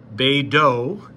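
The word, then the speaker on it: BeiDou: we use here and BDS pronounce beo is the Chinese satellite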